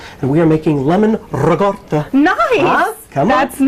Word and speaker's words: ricotta: we are making lemon ricotta. Nice! Huh? Come That's on. nice. Pound cake with fresh the people strawberries. say ricotta for this, for that. No. You got to roll your R's.